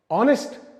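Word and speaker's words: honest: एक एग्जांपल लेते है स्पेलिंग तो बोलता है कि ऑनेस्ट का स्पेलिंग है एच ओ एन ई एस टी तो उसको नेस्ट क्यों नहीं प्रोनाउंस किया जाता है ऑनेस्ट क्यों प्रोनाउंस किया जाता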